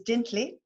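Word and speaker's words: Lintle: And on your right is Dintley. And just a sidebar, L-I and L-E in Sesotho is pronounced D, and there's a test at the end.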